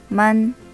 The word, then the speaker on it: 们: 먼. 먼. 경성이기 때문에 짧고 가볍게 발음해 주면 됩니다.